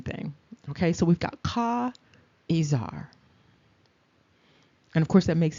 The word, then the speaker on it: Caesar: Caesar is not really Caesar. It's really Ka'izar.